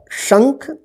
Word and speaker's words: शंख: देखिए इसका उच्चारण जो है ना आधा न के रूप में होता है, न न। तो इसे यहाँ पे देखिए शंग, ख, शंख, लेकिन नाक से इसका उच्चारण होगा, ठीक है ना।